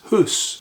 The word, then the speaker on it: house: pronounced time, and the word house would be pronounced hus.